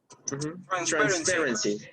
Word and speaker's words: transparency: Transparency. Yeah, transparency. Okay. You have the stress on the second syllable, transparency. Transparency.